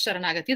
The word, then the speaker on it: sharanagathi: see it in tamil so it is spelled as chara nagate but that is sharanagathi that's the first word